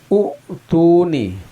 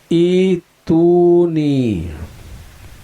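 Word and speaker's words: أُوتُونِي: di dalam belajar tajwid, ini dibacanya harusnya u'tuni, mengikuti harokat huruf ketiga dari kata ini, yaitu harokat huruf ta yang berharokat dhamma. Maka sesuai dengan kaidah umum harusnya ini dibaca u'tuni. Tetapi kenyataannya ini dibacanya ituni. Nah, kenapa dibaca ituni?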